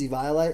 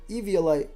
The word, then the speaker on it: Eviolite: was like oh no you got to say eviolite like radio like bro off like